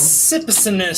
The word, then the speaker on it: Sipicinus: Sipicinus. That's how it's pronounced.